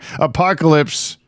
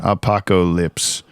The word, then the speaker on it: Apokolips: I'm oh thank you today we're watching Apocalypse Now part one uh your prediction last time